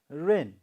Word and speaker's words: reign: So next word we have is rain, R-E-I-G-N. The sound is silent, okay? G here, this sound is silent. Rain, you have to pronounce as rain, R-E-I-G-N.